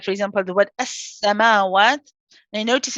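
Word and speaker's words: السَّمَاوَات: Now, notice in this word we have two scenes. We have the joining one when we say S, and then you have the one with the fatha, the sa. So the joining scene, again, it's a rahawa letter, as I mentioned. It's a joint one. So it's just how we said S, we'll say that again.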